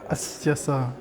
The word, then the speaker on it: Astiasarain: Désolé parce que je me suis répété, mais je ne sais plus comment on prononce son nom. Ah oui. Astia Saran.